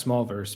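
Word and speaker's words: Smolverse: talk about you mentioned small verse and is it pronounced it's pronounced small verse but it's spelled it's m-o-l okay so it's not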